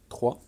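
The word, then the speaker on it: trois: Par contre, le S ne se prononce pas. 3.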